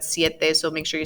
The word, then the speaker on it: siete: have heard these seis siete not sete but siete so make sure you